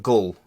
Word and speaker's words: ghoul: And it's pronounced ghull. Well, I'm probably pronouncing it wrong, but it's Ghul. Imagine that with a not Northern English accent.